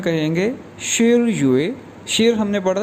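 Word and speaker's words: 十月: और अक्टूबर 10वां महीना है, तो अक्टूबर को चाइनीज़ में कहेंगे शिर युए। शिर हमने पढ़ा था 10 के लिए, तो 10वां महीना ये प्रोनाउंस किया जाएगा शिर युए, शिर युए।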